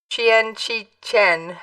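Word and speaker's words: Qian Qichen: a cause Mr Kean whose full name is roughly pronounced Chen Chien had mostly stayed out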